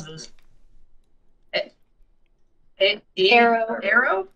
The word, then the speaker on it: Aero: pronounce this the arrow Arrow yeah Arrow just like Aerosmith it's a 100 sustainably sourced cocoa it's 42 grams of milk chocolate 120 calories so here's here's the big thing with arrow bars it's you you